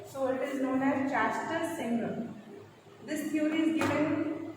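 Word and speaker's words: Schachter: Cognitive theory में इसलिए चैस्टर and singer है, CHACHER, spelling is चैस्टर एंड S is silent over here, so it is known as Chastel Singer.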